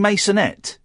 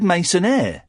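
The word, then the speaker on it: maisonette: You said masonaire. He didn't pronounce his T's. He doesn't know how to pronounce masonette. He thought it was French. Well, it is, but he thought it was masonaire, like legionnaire.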